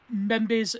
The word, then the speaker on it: Mbembe: how you pronounce it I believe it's pronounced some bembe the M may be silent uh a Chile or aquile membe's necropolitics now this book